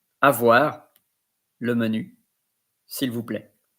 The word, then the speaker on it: avoir: A-V-O-I-R. Avoir. It's like as if you are pronouncing A-V-W-A-R.